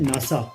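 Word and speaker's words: Nassau: बामस जिसकी कैपिटल है नासा तो नासा के एंड में यू आता है पर वो यू को आपने ए पढ़ना है तो बामस की कैपिटल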